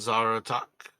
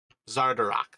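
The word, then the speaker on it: Xardorok: the sun blights and zara talk damn i just said his name wrong um give me one second here zardarok there we go bronic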